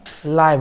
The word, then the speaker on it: live: इसका उच्चारण कैसा होगा? यह लाइव होगा। लिव मैं नहीं पढूंगा। लिव संगीत नहीं।